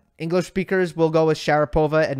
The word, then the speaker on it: Sharapova: this I know that for Russian names English speakers tend to put the emphasis on the wrong syllable I was speaking to a Russian friend they were telling me that uh Sharapova is Sharapova Medvedev is Medvedev but it's just not like that uh English speakers will go